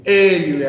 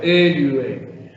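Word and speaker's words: ἔλυε: Eliue, haciendo la fuerza en la primera sílaba. Eliue.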